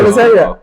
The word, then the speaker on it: proletariat: Proletariat.